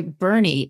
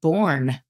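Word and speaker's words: Boerne: And by the way, Burney, I thought I would have said Bourne, Texas. I've learned I do not know how to pronounce anything in Texas. Burney, I was shocked.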